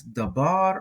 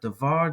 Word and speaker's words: דבר: So Dalet Beit Resh, and that's Dabar or Davar, depending on whether a dagesh is present or not.